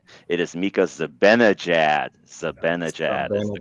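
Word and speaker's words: Mika Zibanejad: him about five years to be able to pronounce this name correct. Okay, this is this is Micah Zimbad.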